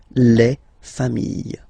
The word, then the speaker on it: familles: Okay, you just add this final s, and you get the plural form, les familles. Okay, remember, chien, singular form, chien, same pronunciation, but you put this s. Okay, final s not pronounced.